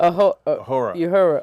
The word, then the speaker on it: Uhura: Now, one of the landmark things that happened in 1978 was on Star Trek when James, William Shatner's character, kissed Uhura. How you say it? Uhura.